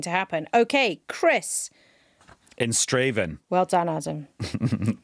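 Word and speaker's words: Strathaven: In Straven. Well done, Adam. That is a place in Scotland that many English people mispronounce.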